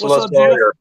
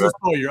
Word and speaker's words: Losawyer: It's Losawyer. It is Losawyer.